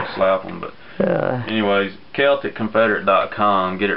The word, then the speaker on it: Celtic Confederate: Celtic Confederate decom some people some people pronounce it Celtic Confederate but they've been watching basketball too much Boston fans up there